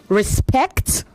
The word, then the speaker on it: respect: Respect. You said respect. Respect. The stress is on the second syllable.